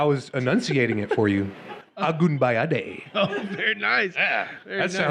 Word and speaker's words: Agunbayade: Agunbayade.